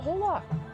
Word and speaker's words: hola: hey it's a masochistic Halla hola hola I do not know that the H is silent the H is silent